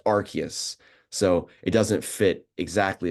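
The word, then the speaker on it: Arceus: if you like Po Pokemon uh they'd say arus the god Pokemon but apparently I was corrected on that that it's pronounced archus so it doesn't fit exactly as well but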